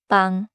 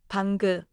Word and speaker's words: 방: So the mistake is like saying 사랑그, 공그, 방그. Right. The fix is to end inside the syllable. 사랑, 공, 방.